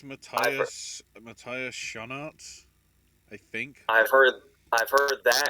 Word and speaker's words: Schoenaerts: Okay, Schoenaerts, according to the pronunciation on Wikipedia. S-H, U as in goose, N as in nigh, and then A as in, or the AR as in far, So, Schoenaerts. That's how it's pronounced apparently.